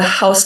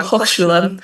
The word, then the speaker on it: Hochschule: And then his wife actually happened to be part of the Haus der Gestaltung in Ulm, which was a school that means school. I said it wrong. Hochschule, but a different word.